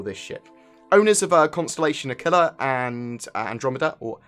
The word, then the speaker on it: Aquila: Owners of Constellation Aquila and Andromeda, or Aquila as it's more correctly pronounced, will have a permanent Merlin added to their hangar because they basically were included with their ship.